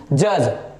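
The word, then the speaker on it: judge: जज, यहां पे डी जो हो जाएगा, डी जो हो जाएगा साइलेंट। सो नेक्स्ट रूल जो है,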